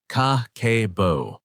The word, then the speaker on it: Kakeibo: The profound answer, elegantly simple yet deeply powerful, is Kakeibo, pronounced Kakeibo.